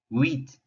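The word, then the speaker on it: huit: on the pronunciation set wheat wheat h is always silent in french so we're not hearing the h at all what we are hearing is the we ui makes a weak sound in french and pronounce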